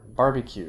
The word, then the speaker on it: barbecue: pizza and banana you can have stress on the third syllable from the end minus three stress like hamburger barbecue i think i was